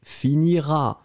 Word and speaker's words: finiras: première personne deuxième personne tu finiras final pas prononcé ça c'est clair je